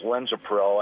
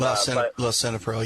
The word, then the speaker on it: Lisinopril: But now, otherwise, I'm on blood pressure medicine too, which is Linzapril, I believe is how it's pronounced. And Lisinopril, yeah.